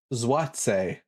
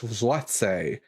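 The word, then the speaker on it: złoty: for my Polish friends pronounce uh it's pronounced zwat the polish zwat um okay there we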